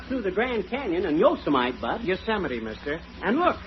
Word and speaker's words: Yosemite: these western names right it isn't yosemite it's yosemite oh yeah and what